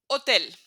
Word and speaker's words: hotel: It's the only letter we will never pronounce. It's just as if there was nothing in there.